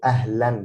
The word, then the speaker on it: أهلا: So this a character is when it's double, this is called like tanween. So this means that it's pronounced with an N. So ahlan, because here we don't